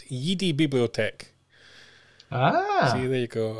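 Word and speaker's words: Jedi-Bibliothek: Florian Bauer as well from, I'm going to pronounce this correctly because it's not pronounced as you imagine, it's Yidi Bibliothek.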